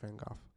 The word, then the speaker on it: Van Gogh: You like him so much that you don't even know how to pronounce his last name, bro. Pardon? Pretty sure it's Van Gogh.